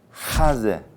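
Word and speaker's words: חזה: 요 가슴을 하제. 목에서 나는 히읗 발음 하제 이렇게 불러요.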